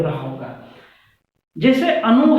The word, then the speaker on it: अनु: आप दोनों का जब उच्चारण सही से करेंगे तो आपको अर्थ क्लियर हो रहा होगा। जैसे अनु है, अनुचर के अर्थ में होता है, अनु